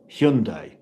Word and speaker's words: Hyundai: How do you pronounce H Y u N D A I? The answer is Hyundai.